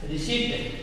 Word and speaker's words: receipt: Receipt. Here is a P is silent.